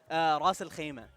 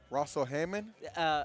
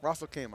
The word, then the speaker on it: Ras Al Khaimah: How do I say that? Russell what? Ras Al Khaimah. Russell Hammond? Ras Al Khaimah. Oh, Russell Khaimah. There we go, yeah. Russell Khaimah. That's the American pronunciation.